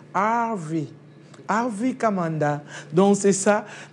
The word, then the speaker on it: Harvey: Bon, j'ai dit Hervé, lui-même, il le prononce en anglais, Harvey.